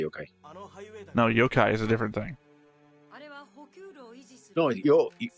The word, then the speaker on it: Yokai: Yokai. Yokai. No, Yokai is a different thing. No, Yo-kai is a spirit. It actually pronounced very similar.